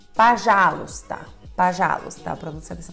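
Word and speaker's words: пожалуйста: luta por já luta só que você procura e descobre que sílaba tônica é a sílaba já que acontece com o primeiro homem você já sabe se torna a pajalusta tá já tá pronto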